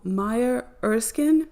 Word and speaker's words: Maya Erskine: And matched to Maya Erskine, that's how you say it, with 49 in the reduction cipher directly.